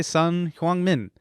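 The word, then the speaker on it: Son Heung-min: The South Korean guy who's playing today, Sun Hwang-min. That was a great pronunciation.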